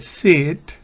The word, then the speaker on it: sit: lo vuelvo a explicar, esa I de sit, una I como la que escribimos nosotros en español, se pronuncia como una I bien corta, no sit, no, sit. Sit, una I corta.